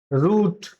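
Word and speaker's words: route: First is root, like boot, ठीक है।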